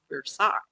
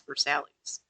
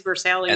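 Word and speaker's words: Versailles: Um, and there's a street that I would call Versace. Sure. But I was told by someone from Kentucky, no uncertain terms, that that's Versalis. And it's true. It is Versalis.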